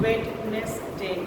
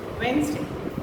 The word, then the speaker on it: Wednesday: it Monday Tuesday Wednesday many of you pronounce it as wet next day that's not the way we pronounce Wednesday Thursday Friday Saturday and